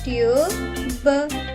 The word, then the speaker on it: tube: ఉచ్చారణ అవుతుంది ట్యూబ్, ట్యూబ్.